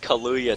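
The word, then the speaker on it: Kahlua: my rum drinks uh looks like kaluya to me that's what it is it's Kalua it's the thing you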